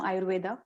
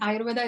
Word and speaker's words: Ayurveda: you explain the term Ayurveda? Yeah. So Ayurveda is made up of two words, and Ayurveda is a little bit anglicized pronunciation. In India, we call it Ayurved.